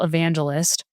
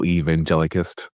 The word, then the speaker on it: evangelist: in with my job title is technically global evangelist. I leave that part out now. I say I work in technical marketing. Global evangelicist.